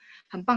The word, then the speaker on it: 很棒: 很棒, dia kan pakai B ya, 很棒, tapi bacanya kan P. 很棒itu artinya excellent, hebat ya. Oke, kecoret nggak apa-apa ya teman-teman, karena nggak mengganggu. 很棒 hebat.